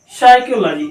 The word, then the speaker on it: psychology: प्रकार से आ गया PSYCHOLOGY, साइकोलॉजी। क्या ये, साइकोलॉजी। ये यहां पर पी की आवाज कट गया, पी यहाँ पे साइलेंट हो गया, यहाँ पर भी पी को नहीं पढ़ा जाएगा।